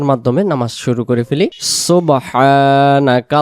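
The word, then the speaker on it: سُبْحَانَكَ: সুবহানাকা আল্লাহুম্মা। সুবহানাকা আল্লাহুম্মা সুবহ সুবহ কলকলা হবে এখানে বা অক্ষরে সাকিন থাকার কারণে সুবহ এমন হবে আমরা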